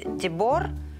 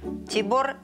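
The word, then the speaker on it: Tiborné: Vadaszi - Vadaszi, Janos - Janos Tiborne - Tiborne And the stress on the last syllable initiates that she is his wife.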